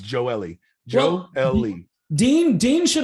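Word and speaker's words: Gioeli: thought okay but it's there's not four syllables in joeli it's johnny gio ellie forget the geo party it's not g-o-l really it's joe ellie joe lee dean dean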